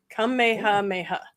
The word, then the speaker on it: Kamehameha: And Gina says it's pronounced Kamehameha. Kamehameha.